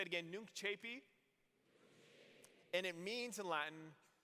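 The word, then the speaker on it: Nunc coepi: And it's spelled N-U-N-C space C-O-E-P-I. Pronounced Nunc Chapi. So say it again, Nunc Chapi.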